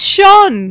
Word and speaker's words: shone: sense i had to pronounce shone again yeah sean it's sean sean sean the stars they shone